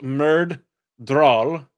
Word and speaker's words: Myrddraal: Anyway, Myrddraal, pronounced Myrddraal, that's 2 D's and 2 A's, are shadowspawn, described as muscular and serpent quick.